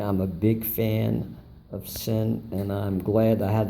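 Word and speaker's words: Sinn: of the show and that's basically Zen but the gentleman here pronounced its sin so I guess depending upon where you're from you know the pronunciation like change because needless to say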